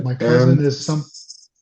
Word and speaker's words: Cousin: My cousin And is some. since this is a French word, Oh, okay. it is pronounced cousin.